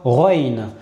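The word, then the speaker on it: غين: C'est un peu la manière dont on va prononcer le R et de plus précisément lorsqu'on est à Bruxelles.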